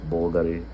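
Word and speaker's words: Bvlgari: bulgary in case you were wondering how to pronounce that bulgary um they always have some bangers um Sega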